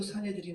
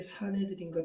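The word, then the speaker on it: 산헤드린: 이 수네드리온을 우리 개역개정은 사내들인이라고 발음한 거예요. 자, 예수님도 사내들인 앞에 섰고 베드로와 요한도 나면서 앉은 뱅이 된 자를 고친 그걸로 말미암아 사내들인 앞에 섰죠.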